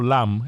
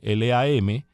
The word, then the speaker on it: Lam: Pero en cuando veas a alguien con el apellido Lam, Lam, eso indica que es cantonés.